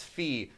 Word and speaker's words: phi: is pronounced P and Phi is pronounced fee so technically I would